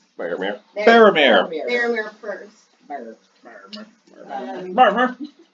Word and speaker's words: Faramir: Faramir.